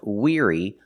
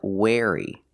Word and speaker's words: weary: the word is pronounced weary not wary pronunciation weary using the long e sound like green beans together with the r ear the sound like ear we're weary weary is a synonym